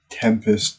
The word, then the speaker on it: 7EMPEST: It's called Tempest, but spelled with a seven at the front.